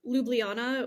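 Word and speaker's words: Ljubljana: a fan so the the capital is lublana which if you were to spell that it has like a bunch of J's in there and it's it's like like you're saying it underwater yeah yeah but oh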